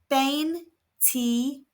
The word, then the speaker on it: veinticinco: It's pronounced ben tal. The V is making a B sound. The I's are all making an E sound.